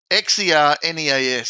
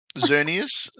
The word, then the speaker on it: Xerneas: This is your question now because I can't pronounce that. It's Xerneas. So Zernus. Cernius? Zernius.